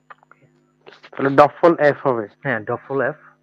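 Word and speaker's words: Doppel: এটা হচ্ছে ডা বল আমরা তো ইংলিশে বলি হচ্ছে ডাবল না কিন্তু জার্মানি বা ডয়সে বলা হচ্ছে ডফল ডফল ওকে তাহলে ডফল এফ হবে হ্যাঁ ডফল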